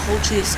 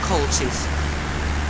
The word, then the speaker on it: Cochise: Because we're in Cochise County. No, not Cochise. I think it's a Greek nickname. It's Cochise. Cochise. C-O-C-H-I-S-E. That's how you spell it.